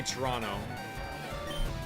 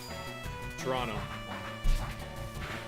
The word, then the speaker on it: Toronto: If you guys ever come to visit me, uh, we do not pronounce the second T in Toronto. We just say Toronto.